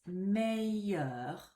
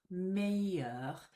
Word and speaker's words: meilleur: But if you pronounce it like this, meilleur, meilleur, there's no hint of an L when you say it.